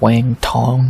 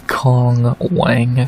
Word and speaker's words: Cong Wang: we have Cong Wang, not Wang Tong or whatever, it's Cong Wang, say it how it's spelled, versus Ariane Lipski da Silva.